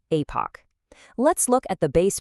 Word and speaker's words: Epoch: And by the way, that is pronounced Epoch.